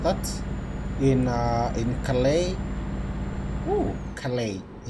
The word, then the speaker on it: Calais: Ooh, Calais. I just learned the other day that that word is not Calais as I used to spell it. It's Calais.